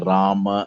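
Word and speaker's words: राम: normal uh hindi right you write kumara you write rama and then you pronounce it as ram or you you write it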